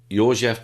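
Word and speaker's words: József: the bar is the memoirs of joseph your jeff pronounced in hungarian cardinal minsanti his memoirs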